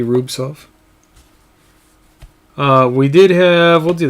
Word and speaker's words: Rubtsov: And then we had a Young Guns canvas of Rubtsov, Silent T Rubtsov.